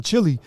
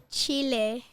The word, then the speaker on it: Chile: Because I've been saying Chile. Well, how do you say it? Say it the right way. Chile.